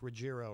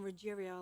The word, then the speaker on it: Ruggiero: you were coming on, I think I said it with a hard G, like Ruggiero or something. Well, that's not a hard G. That sounds better than Ruggiero.